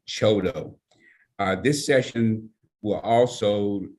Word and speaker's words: CHDO: development organization the acronym chdo and it is pronounced choto uh this session will also let you understand